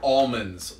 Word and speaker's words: almonds: criminal had an alias notice that the L is not pronounced in Amman ALM OMD say after me a box of atoms lay on the table a box of almonds lay on the table